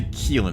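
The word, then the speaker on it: Qilin: slipstream there interesting Keelan I'd say Keelan is how you pronounce that q-i-l-i-n Elon oh I don't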